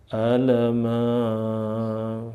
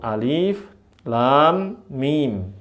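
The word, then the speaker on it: الم: Alama. Waduh, ketawa semua orang-orang kan bacanya kayak gitu. Nah, bacanya gimana tadi? Kembali kepada huruf aslinya yaitu alif lam mim dipotong-potong makanya disebut muqat'ah.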